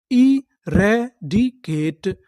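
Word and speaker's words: eradicate: के टी ई ट क्योंकि यहां पर आखिरी में इ है। हमें इ का उच्चारण नहीं करना। तो पूरी मीनिंग क्या बनी? इ रेडिकेट।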